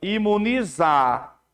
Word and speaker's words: imunizar: Aí olha só esse aqui, ó, imunizar, exato. Esse X aqui, ó, tá com a pronúncia de Z, exato.